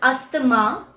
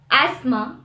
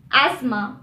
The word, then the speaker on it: asthma: is often mispronounced as asthma the t is silent in this word so it's asthma asthma instead of asthma the letter u is